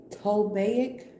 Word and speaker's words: Ptolemaic: Ptolemaic. Ptolemaic, I feel like the P is silent because the P be being silent sometimes.